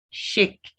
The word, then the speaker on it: chic: Chic. So this word is chic. You'll see H given the sh.